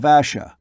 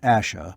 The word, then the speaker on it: Ash: am a kin of asha we return to the hill ash not asha but ash ross though sure of that